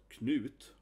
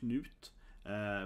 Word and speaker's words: Knut: But Knut, right? Like Scott. It's a very short, only four letters. So I think his name is definitely the most mispronounced, right? So again, Knut.